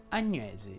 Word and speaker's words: Agnese: ovviamente solo la seconda si pronunciano con la è aperta sia adele che agnese in elio la e